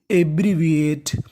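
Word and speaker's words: abbreviate: वी और आखिरी में लिखा है ए टी ई इसे क्या पढ़ते हैं एट तो पूरी मीनिंग एब्रविएट एब्रविएट एब्रविएट का मतलब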